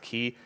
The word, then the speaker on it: Quay: day to day and Quay as well which we pronounce it clay I think it's properly supposed to be we pronounced the key however it's a it's